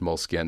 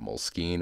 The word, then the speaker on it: Moleskine: And yeah, I'm pretty sure it's pronounced Moleskine, not Moleskine or Moleskine. But you can Google it if you don't believe me.